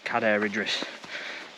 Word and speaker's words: Cadair Idris: sure is cader Idris it's spelled k ridis locally but it's Kad that's how you say it's CAD ridis uh but you know